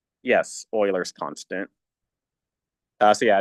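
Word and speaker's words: Euler: Uh so yeah, E is a constant and specifically um E is called yes Oilers's constant. Uh so yeah, it's not pronounced Uler.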